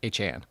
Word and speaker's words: Achane: We spent the whole first 5 minutes on Achane. I actually said it right. Look at that. Achane.